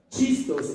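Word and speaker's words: Χριστός: La palabra Cristo, escuche, chistos en griego, C-H-I, chistos, es la palabra griega para Mesías, escuche, y Mesías viene del hebreo que es Mashiach y significa el ungido. Escuche, la palabra Cristo es la palabra griega para Mesías, por eso ellos conocían al Mesías como ¿quién? Como Cristo, se escribe chistos con la che.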